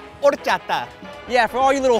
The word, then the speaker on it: horchata: For all you people out there, the H is silent. Horchata.